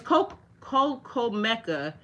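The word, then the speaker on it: coclmeca: It's spelled it's co cocoa. It is c o c o l m e c a.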